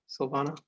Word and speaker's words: Sylvana: Am I saying it right, Sylvana?